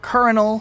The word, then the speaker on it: colonel: these ranking things are weird this is actually pronounced Colonel and not as commonly messed up a lieutenant